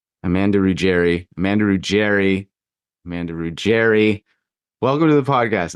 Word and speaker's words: Ruggeri: Amanda Rouerry, welcome to the podcast.